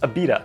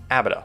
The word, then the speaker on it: Abita: lakes of pontchartrain and it's pronounced abita not abda which is a mistake